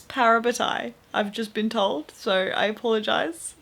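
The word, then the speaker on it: parabatai: I've been pronouncing it wrong. I've been saying parabatti and it's parabetai.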